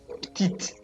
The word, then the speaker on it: petite: Petit, petite. Okay, T, we don't pronounce the T, but now because of this E here, which is now a feminine one, it's going to be petit, petite.